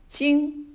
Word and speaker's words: 晶: This is pronounced as 晶.